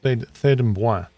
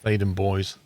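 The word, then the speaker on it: Theydon Bois: And it's actually a French word. It's Thaden Bois. And the English pronounce it as Thaden Boys.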